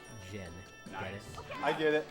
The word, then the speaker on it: Djinn: We've received $5 from Gin and Tonic, and that by the way is spelled DJINN, Gin.